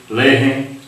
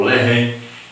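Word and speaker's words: לחם: Outra coisa importante sobre o pão, a palavra pão é lehem, e no hebraico então se pronuncia lehem ou lehem, é um pão.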